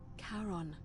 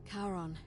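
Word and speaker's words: Charon: c h a r o n as in Caron the ferryman of the Dead karon who in exchange for the right coin helps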